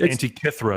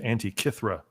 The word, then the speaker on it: Antikythera: They're saying Antikythera is how it's pronounced. Yes, maybe Antikythera. Okay. Antikythera. Someone, Mr. Jammin says it's pronounced Antikythera.